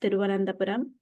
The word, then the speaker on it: Tiruvananthapuram: Now it's pronounced Tiruvananthapuram, and it's the capital city of Kerala, which is one of the southernmost states in India.